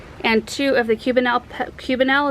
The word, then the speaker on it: cubanelle: two of the cubanelle cubanelle is how you say it peppers anyway uh prairie